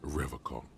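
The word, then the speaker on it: Revachol: I've been tempted on occasion, but someone has to stay strong for Revol. He pronounces Revol with a hard K.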